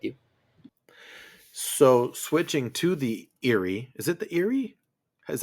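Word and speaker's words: Eyrie: So switching to the Erie, is it the Erie? Is that how you pronounce it? Luke, you're the Yep. expert. Okay, so switching to the Erie, and that's where Rhaena and Joffrey and the baby Targaryens are, right?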